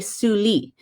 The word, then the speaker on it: Sully: uh then on so the answer is actually suli so it was maurice de sully so you